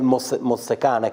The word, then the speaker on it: Mozzecane: da dove arriva, come Mozzecane, credo Sì, si pronunci Mozzecane, così, esatto.